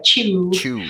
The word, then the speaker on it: Chiu: here with uh joanna chui uh and i really hope actually now that we've talked about that i have pronounced that correctly um it's actually rhymes with pew like joanna chew okay okay so well